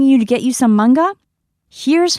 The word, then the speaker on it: manga: So, let's use the word manga, which means comic book in Japanese. In English, it might be pronounced manga. But in Japanese, we don't have that strong a sound. So, it's simply manga.